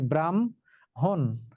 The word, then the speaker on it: ব্রাহ্মণ: যেমন এই যে দেখো ব্রাহ্মণ ব্রাহ্মণ শব্দটি উচ্চারিত হয়েছে ব্রাহন যুক্তবর্ণে আছে হ এবং ম কিন্তু উচ্চারিত হবে ম এবং হ ব্রাহন শুনিয়া কহিল ব্রাহ্মণ